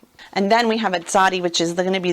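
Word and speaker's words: צדי: Some people pronounce it Zadik because it's a righteous man.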